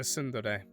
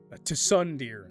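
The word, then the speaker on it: tsundere: I forgot that he's a sundere. Sundere. Cy. Sundere. Tundere. There we go. That's how you pronounce it.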